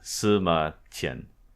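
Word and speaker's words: 司马迁: right cue I am Summa Chen semakin I'm sorry it's a is this sentience och so the queue is actually a CH sound oh it's the H sound okay go ahead and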